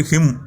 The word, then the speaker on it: her: எப்போவுமே ஒரு ஆர் சவுண்டுக்கு அப்புறமா ஒரு வால் சவுண்ட், வவ்வல் கிடையாது, வால் சவுண்ட் வந்தால் மட்டுமே அந்த ஆர் சவுண்டை உச்சரிக்கணும். இதுக்கப்புறமா எந்த ஒரு சவுண்டுமே இல்லை. ஸோ இந்த இடத்துல ஹெர்ன்னு சொல்லக்கூடாது, ஹ இப்படி தான் ப்ரொனவுன்ஸ் பண்ணணும். ஸோ ஷீங்கிறது ஹ அப்படின்னும் இட்ங்கிறது